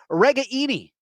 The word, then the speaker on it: Ragaini: years yeah Nico regani well it's not regaini uh in fact his his parents apparently reached out to Chad leistico the Des Moines Register and asked uh get the pronunciation correct at least look at the Italian part correct right so it is actually Nico regaini do I have that right Nico regaini we'll see